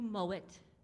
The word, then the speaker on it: Mowatt: Without further ado, I want to introduce our leader today of our service, our very own seminarian, Mowatt. That is the proper way to say his name.